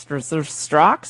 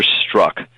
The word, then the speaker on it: Strzok: Strox and a fox in a box? How do you say his name? The DOJ officials I spoke with about this individual are pronouncing his name as Peter Strzok.